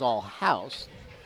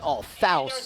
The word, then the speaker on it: Althouse: You notice there is two ways to say my last name, Althouse and Allhouse. Yep. Either the T is silent or the H is silent. The German way is Allhouse. The English way is Althouse. But Althouse is not right.